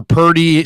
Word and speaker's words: Purdy: makes 1.5 a year 1.5 for Purdy rhymes with 30.